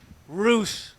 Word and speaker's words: Rush: Roosh. Roosh. Roosh. That's how you say it.